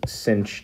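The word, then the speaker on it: sinh: these things what are what we pronounce is cinch tea and kosh tea and they are what are called the hyperbolic sine and hyperbolic cosine and by definition they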